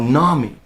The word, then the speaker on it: NAMI: was comparative right but I know Nami is the correct pronunciation and everyone that trained